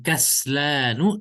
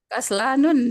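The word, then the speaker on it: كسلانُ: Kaslanu tidak. Harusnya kan polibun Kaslanun saya. kaslanun. Tetapi karena bentuk tulisannya begini, yaitu dia ada mad sebelum huruf terakhir, ya, maka dia tidak ditanwin. Ya. Ketentuan bacanya tidak ditanwin.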